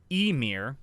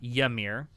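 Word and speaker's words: Ymir: looking at everyone out it's correctly pronounced Amir not yamir oh my fault in its Old Norse for screamer good to know I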